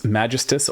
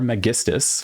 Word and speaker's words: Megistus: There is some controversy about whether it's Majestus or Megistus. Um, Japanese names have no ambiguity in pronunciation, and the Japanese ones are Megistus for those keeping score at home, but you can say whatever you want as long as your opponent understands.